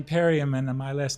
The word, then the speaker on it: Perriam: So, ladies and gentlemen, I'd love to introduce Periam and Eric Abink, right? That's correct. Is that those pronunciations bang on or okay?